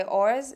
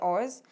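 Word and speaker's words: ORS: The next thing that I picked is from the same company by Oars. I think that's how you pronounce it. It's O-R-S, so I just say it's Oars, right?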